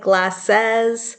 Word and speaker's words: glasses: It looks like glasses, and it's okay to pronounce it like glasses, but realistically, when we speak, it comes out more like glasses. So it's got that, we call that a schwa.